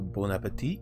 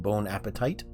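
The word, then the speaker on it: bon appétit: By the way, letters at the end aren't often pronounced in French. So, bonapet is not bone appetite.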